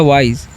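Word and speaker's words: wise: डब्ल्यू का व आई का आई तो हो गया वाई। और एस का एस ही जब भी लास्ट में रहता है तो उसका ज्यादातर ज किया जाता है। तो हो गया वाइस।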